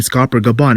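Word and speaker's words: Scopper Gaban: third guy we know his name is rhymes with copper kind of the gold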